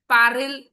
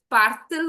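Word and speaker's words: parle-t-il: पारिल नहीं, मतलब it doesn't sound nice, पारिल Ongole, तो इट्स पार्थिल ओंगले।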